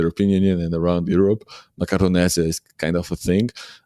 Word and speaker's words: Macaronesia: So it's Macronesia is how you Macaronesia. Macronesia. Can you spell it for me?